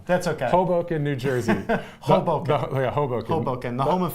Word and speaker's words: Hoboken: you would go over hoken uh through the um subway system hold how did you pronounce that hoken Hoboken Hoboken I did that wrong that was a Chicago